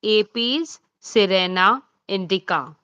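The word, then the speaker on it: Apis cerana indica: So it will be pronounced as Apes Serena Indica.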